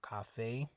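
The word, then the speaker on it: café: talked about in Spanish the E is never going to be silent okay it always makes the a sound so Cafe okay now in English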